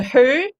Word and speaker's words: Høeg: try so it's uh it's a who and it means hawk and danish who no g looks like this it